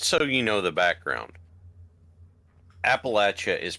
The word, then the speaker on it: Appalachia: It's like what? Appalachia versus cha. So here's you got to go cha.